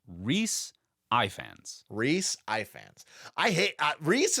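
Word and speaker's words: Rhaenys: the pronunciation last episode so it it is pronounced Rees Ians Rees Ians I hate Rees is great Rees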